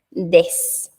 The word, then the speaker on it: です: Pero aquí no pronunciamos de su, ¿verdad? Porque vimos regla de pronunciación de que la U al final, en una palabra que termine con alguna sílaba que sea de la U, esta U pierde fuerza. Entonces, en lugar de pronunciarlo como de su, pronunciamos des. Muy suave, muy sutil la U, des.